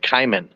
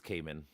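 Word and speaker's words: caiman: I always pronounce it Kayman. No, it's Cayman.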